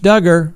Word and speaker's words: Duggar: their cases wrapped up josh duggar rhymes with hugger appeared in federal court